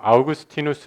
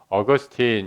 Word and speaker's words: 아우구스티누스: 같다라는 생각이 됩니다 4 어떤 사람은 아우구스티누스 이렇게 얘기하고 요 또는 사람들은 어거스틴 이렇게 막 발음을 하기도 합니다 두 사람이 같은 사람이구요 아우구스티누스 라고 얘기했을 때는 원래 이름처럼 라틴어로 발음하고 소개하는 거고 아우구스티누스가 영어권의 소개가 되면서 좀 더 줄여서 어거스틴 이렇게 발음하면 영어식 표기가 된다 이렇게 이해할 수 있습니다 에어 것이니 왜 이렇게